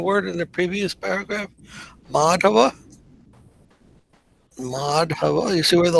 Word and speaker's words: Madhava: Madhava. Madhava. You see where the line over the A is? That should be pronounced a little longer. Madhava, not Matava.